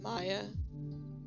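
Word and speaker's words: Maja: I think it's pronounced Maya, M-A-J-A. The Vulcan Maya.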